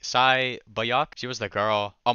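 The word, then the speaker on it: 새벽: I think it's pronounced like Sai Bayok.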